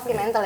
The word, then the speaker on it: Fremantle: Oh, Fremantle ya bacanya.